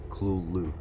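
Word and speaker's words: Cthulhu: However, Lovecraft wrote that the closest pronunciation is Kulu.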